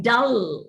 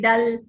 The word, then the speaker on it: dull: in the final position the back of the tongue also has to go and touch the limb like dull that's the right pronunciation null shall but indians don't pay much attention to this they always say dal with a with an alveolar articulation which uh is not correct uh we do not